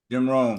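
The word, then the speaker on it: Jim Rohn: talking about um Jim it's Jim Ron today pronounce his name correctly Jim Ron Jim Ron yeah he is incredible have you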